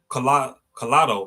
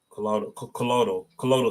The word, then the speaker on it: colloidal: When it comes to silver, there's something called collado. I think I'm saying it right. Collado silver. Colloidal silver. That's how you say it, colloidal.